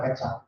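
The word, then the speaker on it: ket: sudah ngajari itu ya simbol cat nol ini cat 1 bacanya ini cat nol ini dibaca cat oke e superposisi ya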